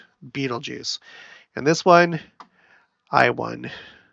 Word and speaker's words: Betelgeuse: Someone told me that this was not pronounced Betelgeuse, but it is. Beetlejuice.